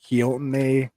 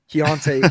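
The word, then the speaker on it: Keaontay: as you've mentioned uh hiltone is that how you say it fiance thank you chiante Ingram so you're the dynasty guy I know you I knew you knew that one uh chiante Ingram um so out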